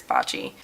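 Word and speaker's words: Baci: it's spelled BAC i I've heard people say it a lot of different ways but I'm pretty sure it's bocce it's just like kind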